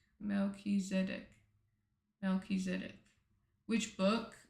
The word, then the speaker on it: Melchizedek: Melchiz Melchizedek. Melchizedek.